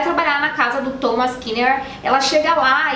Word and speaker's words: Kinnear: Eles são acusados então de matar o dono da casa, o Thomas Kinnear. Ok, não me matem, mas nós temos mais uma pronúncia errada. Dessa vez não é Kinnear, e sim Kinnear.